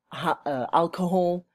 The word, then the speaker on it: alcohol: These include diseases which are not communicable, such as type 2 diabetes, cancer, and stroke, as well as alcohol, always pronounce the H, huh?